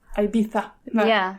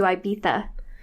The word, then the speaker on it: Ibiza: But if you're reading it anywhere else, you pronounce that goddamn Z.